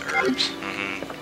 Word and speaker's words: herbs: I'm pretty sure it's I've heard it both ways I know it's one of those things I'm not really sure about but I'm pretty sure it's herbs I think the age is silent you can actually use